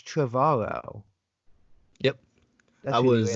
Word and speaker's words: Trevorrow: Trevorrow rhymes with tomorrow. So it's Trevorrow.